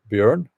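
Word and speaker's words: Bjørn: How do you pronounce the name Bjorn? Bjorn, as I said now.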